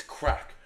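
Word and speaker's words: craic: I I found out recently that the the the Irish word for fun is actually crack. So yeah, it's crack. It's spelled C R A I C.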